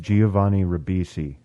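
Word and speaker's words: Giovanni Ribisi: Boiler Room versus ol it's pronounced Giovani risi for director oh oh sorry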